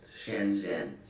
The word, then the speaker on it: Shenzhen: know how to pronounce that how do I pronounce shenzen correctly that's right shenzen shenzen Shenzhen Shenzhen uh yeah it's said a desire to